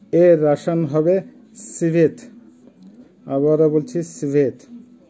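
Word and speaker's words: цвет: Colour বা রং এর রাসায়ন হবে সিভেত। আবারও বলছি সিভেত। ক্রাসনি, ক্রাসনির অর্থ হবে লাল, উচ্চারণ হবে ক্রাসনি।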